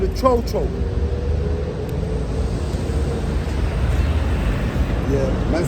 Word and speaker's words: cho-cho: All right, so this one's called a cho-cho.